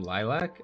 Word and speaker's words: Lilac: data mine files and they actually pronounce her name lilac unless the person uploading the